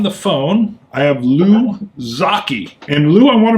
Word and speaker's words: Zocchi: And Lou, I want to make sure, somebody told me it's like hockey, but am I pronouncing your last name correctly? Yes, Zaki is the way my name is pronounced.